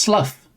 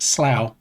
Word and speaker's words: Slough: See, it's not pronounced slough. It is in fact pronounced slow.